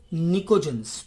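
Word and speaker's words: pnictogens: को कहा जाता है निकोजेंस। P साइलेंट रहता है निकोजन में, इन्हें निकोजेंस कहते हैं।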